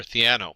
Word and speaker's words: Theano: And the first thing you'll notice is that Keras runs on top of either TensorFlow, CNTK, and I think it's pronounced Thano or Theano.